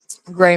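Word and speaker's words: Grei: Um, because my middle name is Gray, spelled the same way, G R E I.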